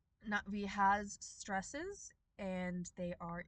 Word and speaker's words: Na'vi: want to point out this underline that we have under the na. That is a stress marker on the first syllable. Natvi has stresses and they